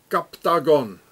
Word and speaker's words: Captagon: so here it says captagon it's like octogon captagon it's the same and every